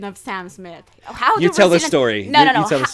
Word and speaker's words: Sam Smith: you tell the story how do brazilians pronounce sam smith okay but is this like brazilians in general or is this justin selmo because i'm telling my husband he said sung's meech oh this is very